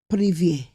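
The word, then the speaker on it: привет: Informal hello is privet. Spelt Privet, but pronounced privet.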